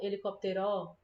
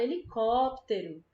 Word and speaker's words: helicóptero: puxa mais tá vendo olha o caso de helicóptero a gente não fala helicopter ó e nem helicóptero nem helicóptero né a gente fala helicóptero a gente pronuncia todas as outras sílabas mais rápido e só a gente puxa mais percebe helicóptero certo Ah é Então como